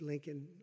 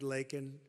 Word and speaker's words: Laken: months of prodding him Biden couldn't pronounce her name he said he said Lincoln Lincoln Riley and Lincoln Riley was the football coach the coach and uh